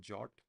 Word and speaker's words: JWT: Wait, do you guys know that GWT is actually supposed to be pronounced as jot?